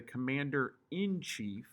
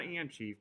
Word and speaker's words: commander in chief: You have the president that is considered the commander in chief. It's not and chief. People say it wrong all the time. It's actually commander hyphen in hyphen chief.